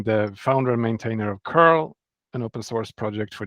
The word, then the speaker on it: curl: I I yeah I I wanted to actually have it as an English pronounceable word so that's why I that's one of the reasons I went with Carl so I want to pronounce it as the English word curl okay okay and but